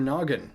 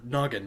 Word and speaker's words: Gnoggin: heads noggin use your noggin haha ooh silent G because silent letters and stuff and